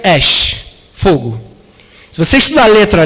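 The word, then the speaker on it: אש: da palavra em hebraico, fogo é a palavra ash. São duas letras, alefim, e se pronuncia ash, fogo.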